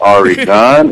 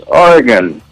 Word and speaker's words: Oregon: I'm calling from Oregon can you please pronounce orgon right it's not Aron it's orgon where you been orgon's